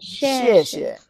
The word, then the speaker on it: 谢谢: 谢谢谢谢谢谢 second character could be lower, weaker.谢谢。谢谢。 Yeah, that's a very daily speaking. But when you in a very formal thing, you want to 谢谢 you want to say emphasize the second one.